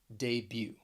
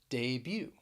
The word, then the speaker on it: debut: womb we're going to talk about a silent t that you will find at the end of some words so the first word that i want to pronounce for you is debut debut i made my debut